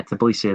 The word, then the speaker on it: Tbilisi: oh yeah, Bira Tbilisi, or however you say the capital of Georgia. My Tbilisi, pronunciation, yeah, Tbilisi, that's the one.